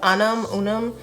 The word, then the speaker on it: Unum: I used to really love Unum. I'm not sure how to pronounce it, but it's UNUM.